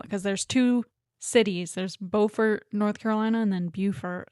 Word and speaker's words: Beaufort: flack because I think in North Carolina it's Beaufort, and in South Carolina, because there's two cities. There's Beaufort, North Carolina, and then Beaufort, South Carolina.